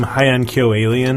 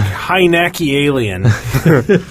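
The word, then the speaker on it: Heiankyo Alien: I think my all time favorite is that game Hyankyo Alien. Oh yeah. And somebody on a message board was selling it, and he was like Hynaki Alien. Like, wow, you're not even trying.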